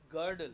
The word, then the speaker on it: girdle: গার্ডল উচ্চারণটা হবে গার্ডল ফার্লড। যখন এল ই একসঙ্গে থাকে তখন ওই ই এর উচ্চারণটার দরকার নেই, গার্ডল ফার্লড এরকম করবে, গার্ডল ফার্লড।